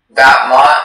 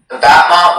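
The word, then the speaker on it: battement: Batman is from French. Batman. Could you repeat the definition again, please? Yes. Batman means an extension of the free foot in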